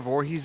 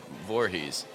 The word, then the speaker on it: Voorhees: yeah her name actually it's a Dutch name Voorhees that's crazy and she's actually said part of why she loves the movie series so much as people know how to pronounce Voorhees because because of Jason right here